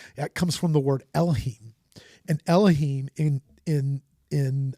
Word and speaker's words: Elohim: is in there that is hebrew is is elohim which is and I hope I'm saying it right is it elohim is that right yeah and it's a